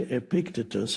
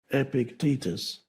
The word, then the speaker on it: Epictetus: I used to say Epictetus, and then I realized that the stress is on the second syllable. Epictetus.